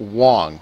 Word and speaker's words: Wang: Is it Wong? Last name is pronounced Wong? Okay, Garrett Wong.